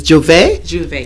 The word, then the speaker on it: j'ouvert: and it's the proper the proper pronunciation pronunciation is j'ouvert do they were you